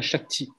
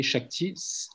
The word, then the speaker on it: Shakti: Et après, il y a Shakti. Om Shakti Namaha, Om Shakti Namaha, Om Shakti Namaha. Ok, Shakti, S-H-A-K-T-I ou S-A-K-A-T-I, parce que le S en sanskrit se prononce Sh.